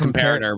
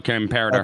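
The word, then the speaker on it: Comperatore: Forgive me, I can't pronounce his last name. Yeah, no, it's comparator. We learned that last night. No, comparator.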